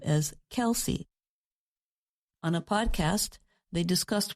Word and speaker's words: Kelce: Whether Kelsey should be pronounced with one or two syllables, Kels or Kelsey has been a subject even his own family talks about.